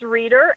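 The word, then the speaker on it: Reeder: spell your name because it is spelled a little different than it sounds my name is reader and it felt REE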